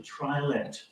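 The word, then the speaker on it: triolet: It's based on a form called the trilet, or trile, pronounced in different manners depending on where one is pronouncing it, insofar as anyone much pronounces it at all.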